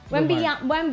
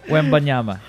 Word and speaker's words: Wembanyama: Wait, before we start, can we all pronounce Wemby's last name? Let's see if we all get it right. Wembanyama. I think you're right, Mara. Let's go with that. Wembanyama.